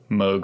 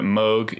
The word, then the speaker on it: Moog: And the Moog is Robert Moog. He invented the Moog synthesizer. It's M-O-O-G. It's not pronounced Moog. It's Moog, apparently.